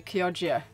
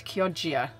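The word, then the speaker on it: Chioggia: to be going to kogia but um yeah I realized that I'd been pronouncing it wrong all day so it's kogia not kogia sorry about that um but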